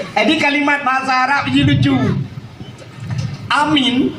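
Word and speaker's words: آمين: Cara sebut amin. Amin. A panjang min.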